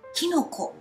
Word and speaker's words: 菌: なんですねキンっていう子は音読みデーチンと読みますけれども喰い呑みだとなんとキノコと読みますキノコ